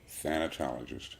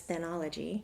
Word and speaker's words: thanatologist: Thanatologist. Thanatologist. I had remembered it as thanology, which is not.